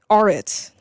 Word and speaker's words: Arat: Arat. That's how you pronounce it.